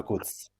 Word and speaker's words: Makuc: it's like if it's Can, Makuc or Makuc or Makuk or how is it? how do you guys say it? It's I'm Domen go. Makuc. Oh, Domen Makuc. I'm going with I Makuc.